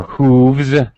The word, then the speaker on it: hooves: You can say hoofs or hooves. Either one is okay.